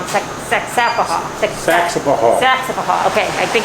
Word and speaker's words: Saxapahaw: The name wrong. Saxapahaw.